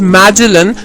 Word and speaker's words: Magellan: In 1519, a Portuguese sailor named Magellan, pronounced as Magellan, started on a journey by ship from Spain along with other sailors.